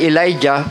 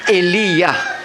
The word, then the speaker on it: Elijah: Patunay na ang Diyos ni Elijah, English ay Elijah, pero sa tamang pagbigkas ay Eliya.